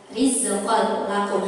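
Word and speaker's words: رزقا لكم: Ini dibacanya jelas rizqal lakum, hanya dimasukkan aja, hanya melebur saja. Rizqal lakum, tidak ada dengung.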